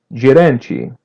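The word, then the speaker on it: gerente: The n is a light n and letter t is pronounced as chi. Geranchi.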